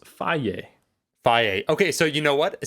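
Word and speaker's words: Fage: chobani yeah i wanted to say is it feige how do you say the f-a-g-e it literally says it on the package it says it's pronounced phi phi okay so you know what see in canada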